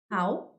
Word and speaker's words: how: Here we have how. How? Remember. Maybe you remember, okay? Because a lot of students sometimes they pronounce this word wrong. Some students say who, okay?